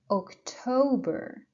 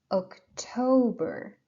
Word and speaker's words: October: one is September September then we have October October you see I push and stress I put the pressure on the second syllable then we have November